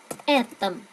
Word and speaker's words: этом: Về tầm trọng âm vào chữ e nha.